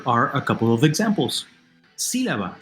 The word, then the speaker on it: sílaba: Sílaba, syllable. Third from last, it's esdrújula, and we know the rule.